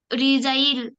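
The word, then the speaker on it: resign: रेन रेन म्हणजे शासन किंवा राजगट राजवट राजवट रिजाइन आर इ एस आई एन जी एन रिजाइन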